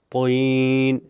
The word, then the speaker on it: طین: دیکھیے تاب، طاب، تین، طین، دیکھیے تین ہلکا، تے جو ہے نارمل پڑھیں گے اور توئیں سے جو ہے موٹا ہو جائے گا، طین،